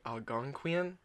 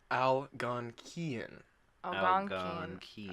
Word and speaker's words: Algonquian: not what is it I'll gone Kian all right so it's a key instead of qui I believe you I'll